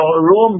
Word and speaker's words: Rome: No, Rome began with Rome, when Rome was pagan. But it's R-U-M or something to that, correct? You can pronounce it as R-O-O-M. Rome. The pronunciation, Rome, yeah.